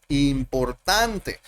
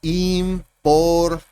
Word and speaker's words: important: Y de las 3 sílabas, el acento está en tent, en important. Y las otras 2 sílabas pierden sonido. Yo no digo important. No se lee así, que es lo que nosotros pensaríamos que se haría, ¿cierto?